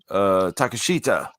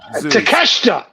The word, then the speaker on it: Takeshita: Mark Briscoe versus Takashita. What's on the line for that? Nothing. The G1 winner, Takashita. The 2300 Arena Pride. Takeshita. G1. Takeshita. There you go.